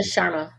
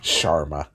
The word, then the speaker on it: Sharma: Sharma. That's what I said. It's like Charmin but without the N. Like Schwarma. Okay. Sharma.